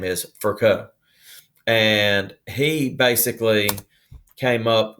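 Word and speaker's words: Virchow: rudolph and his name is per ounce it's pronounced for co now down here in the south we want to say ver chow but that's not correct his name is furko and he basically came up with the with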